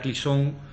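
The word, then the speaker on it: Claessens: Eh, digo Clisón porque ella es eh es balona, ¿vale? No es aunque es belga, pero es balona y no es eh flamenca. Entonces, el apellido, aunque se escribe classens, eh si lo leemos en francés sería como clisón, ¿vale?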